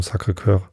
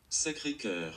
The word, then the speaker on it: Sacré-Cœur: Spreche ich das richtig aus? Sacré-Cœur. Sacré-Cœur. Ich sage Sacre, das heißt aber Sacré-Cœur.